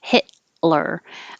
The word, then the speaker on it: Hitler: had this one before hitler the t and the l are made in the same place so you don't release the t hit you hold it hit lure and then